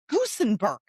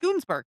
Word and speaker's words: Gusenberg: I need to look up how to pronounce this name. German. Gusenberg. Not Goonsberg.